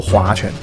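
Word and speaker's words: 划拳: 这不是我念错音啊，这个呢是古代发音，就叫做划拳。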